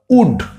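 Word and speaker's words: would: কি হবে ডব্লিউ ও ইউ এল ডি শব্দ উড। এই শব্দটা সি এর উচ্চারণ আমরা জানি ক, সি ক, তার সাথে উড, তাহলে ক যোগ উড কি হয়ে গেল উড।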